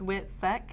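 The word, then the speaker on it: WITSEC: it the wh witness protection okay so it's wit SEC yeah wit SEC okay because it's funny witness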